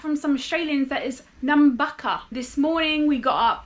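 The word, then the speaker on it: Nambucca: sec to figure out the pronunciation so I pronounce it as Nuka heads but I I found out from some Australians that is namaka this morning we got up went for a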